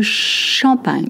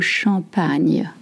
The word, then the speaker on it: champagne: Et maintenant, le champagne. Not champ, champ, champ. Not che, champagne. With the new sound like an onion. Le champagne.